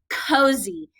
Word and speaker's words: cozy: So this is our word of the day, cozy. It has two open syllables. What does that Y say in cozy? It has that long E sound.